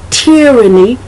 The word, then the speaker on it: tyranny: I've heard it pronounced tyranny, T-Y-R-A-N-N-Y. I've also heard tyranny. I've heard the long I, and I haven't seen anything that says that you can't pronounce it either one way, with the long I being the Y being the long I sound, or the Y being the short I.